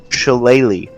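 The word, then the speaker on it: Shillelagh: it's pronounced this way shalele yes it that word I've never known I'm glad you did that for me CH everywhere I looked it's like pronounced it like ukulele but different um I'm going to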